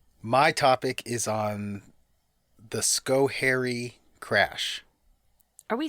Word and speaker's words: Schoharie: But they put enunciation on hair. Okay. So it's Schoharie.